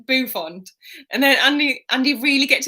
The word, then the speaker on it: Buffon: So I just said Buffon, and then Andy really gets into it and goes Buffon. Because that is the correct pronunciation.